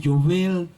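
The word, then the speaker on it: יובל: la otra amén el jubileo en hebreo se pronuncia Joel que significa trompeta si traducimos la palabra al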